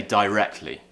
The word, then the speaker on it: directly: word directly or directly me personally again as a pronunciation teacher and from where I'm from in the South of England I would say directly okay and that is how Cambridge dictionary would recommend that you pronounce it if you were going for and let's say RP style accent however when we do